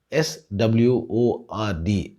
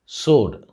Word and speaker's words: sword: அந்த வாளை நம்ம இங்கிலீஷில் SWORD அப்படின்னு எழுதுவோம் and pronounce it as sword. Many people may wrongly pronounce it as sword, but the W in sword is silent.